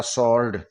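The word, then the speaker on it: sword: तरह एस डब्लू आर डी एस के बाद में डब्लू आ रहा है यहां डब्लू को साइलेंट कर दिया और यह हो गया सर्ड एस ओ आर डी इसकी ध्वनि सर्ड हो गई अब डब्लू है व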